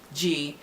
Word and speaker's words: g: Na asụsụ ndị Igbo, gi ị ga-ede ya ka G, English G. If you want to pronounce it, pronounce as gi, which G-E-E, gi.